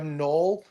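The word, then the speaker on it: knoll: Uh starts with a silent K for 400. Conspiracy buffs know it's a small rounded hill. Will. A null.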